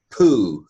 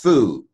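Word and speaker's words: פ: we pronounced tattva here the pay if it had a dot in it if it had a doggish in it we would pronounce it puh but we don't like poo and so this is Fuu the pay without a doggie sir I don't know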